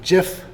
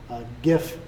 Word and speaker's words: GIF: this is going to create a jiff hopefully that's how you pronounce it gif to those who are